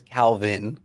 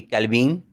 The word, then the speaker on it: Calvin: calvin and um to say my name with with a mexican accent right would be calibing right um and so that kind of sounds like cow beans and so you're reaching